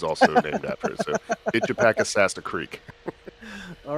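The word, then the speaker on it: Itchepackesassa: Thank you for joining us on this one and going down the pronunciation rabbit hole. Oh, hey, before you leave, it's Itchapakasassa.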